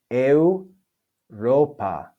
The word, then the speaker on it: Europa: Next, we have Europa, Europa, Europa. E and U form a diphthong.